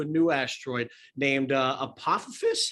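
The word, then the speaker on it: Apophis: they're going to a new asteroid named uh apopha fish how do you pronounce that apothis yes yes and this is a well-known asteroid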